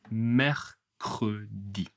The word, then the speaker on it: mercredi: 3e jour, le mercredi. Attention, mercredi, c'est un peu spécial beaucoup de R. Mercred. Mercredi petit à petit, hein.